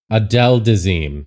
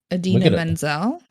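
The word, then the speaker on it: Idina Menzel: Adele Dazeem. Thank you, Merlin. About Adina Menzel? Yeah. Oh that's how he pronounced her.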